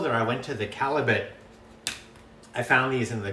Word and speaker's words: Callebaut: but people often say Callebaut, but it's not a French name, it's a Flemish name. So it's pronounced Callebaut.